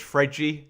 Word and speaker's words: Fred: So if you wanted to do that in proper Portuguese speak, it's Fredgy, isn't it?